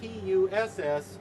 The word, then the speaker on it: puss: that kind of stuff, pus, that's spelled P-U-S, pus. Now when you add a second S to it and spell it P-U-S-S, you have at that point puss.